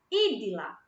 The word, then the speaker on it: Idila: Idila. O meu nome, na letra I, ele é acentuado.